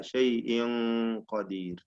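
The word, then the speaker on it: شيءٍ قدير: ഷൈഇൻ എന്നത് തർഖീഖ് അല്ല, ഷൈഇൻ ഖദീർ. وهو على كل شيء قدير. തൻവീൻ ഇ എന്ന ഹംസയുടെ കസ്റ വരെ തർക്കീഖോട് കൂടി പറഞ്ഞു. പിന്നീടുള്ള നൂനിന്റെ ഉച്ചാരണം എന്താക്കുക? ഖാഫിലേക്ക് കൊണ്ടുപോകുക, തഫ്ഖീം ചെയ്തുകൊണ്ട്. ഷൈഇൻ ഖദീർ.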